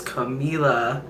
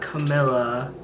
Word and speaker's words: Camila: wrong and then i finally realized it was camila not camilla so i fixed that but i was still